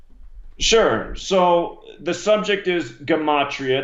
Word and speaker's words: Gematria: So the subject is Gematria. That's the proper way to say the word.